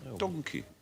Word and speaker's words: donkey: suddenly appeared the word donkey it was pronounced donkey like monkey if we wiped out